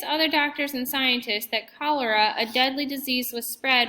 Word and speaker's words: cholera: Cholera, pronounced cholera, is contaminated, which means that impure, harmful, and unusable.